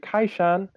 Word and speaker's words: Kai Shan: basically, tone-wise, Kai Shan is like you go down, it's a third tone for the, and then Kai Shan is the first singing tone.